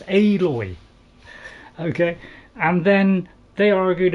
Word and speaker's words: Aloy: out aloy and and most Americans say alloy but that's got two L's in it this has got one so it's aloy okay and then they